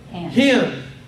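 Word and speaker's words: ἕν: If it has a rough breathing, you pronounce it hin.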